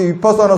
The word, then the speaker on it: 위파사나: 그리고 비파사나 그러면 자꾸 소승불교 남방불교 위파사나 수행인 줄 알아. 그래요. 그 비파사나의 빨리어가 위파사나라고 하는 발음이야. 그러니까는 제가 여러분들한테 얘기하고 있는 이 사마타, 비파사나, 다나바라밀, 이거는 확실한 부처님의 가르침이고 이거보다 더 정확한 실정법은 없어요.